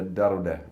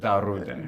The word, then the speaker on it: Darude: the Ville Virtanen, the Darude guy who had the Sandstorm mega hit. You cannot seriously pronounce it Darude. You have to say Darude.